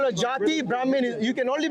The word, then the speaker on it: jati: So why do they call- jati is how it's pronounced, Okay, by so- the way.